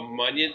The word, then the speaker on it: Munyon: So it's spelled more like Funyun. Yeah. Like a Funyun.